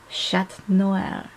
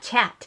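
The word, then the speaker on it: Chat Noir: me but she's like it's not chat it's shat and I'm like yes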